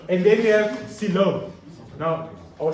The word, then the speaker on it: coelom: And then we have coelom. Now, or coelom. Okay? This is how it's spelled.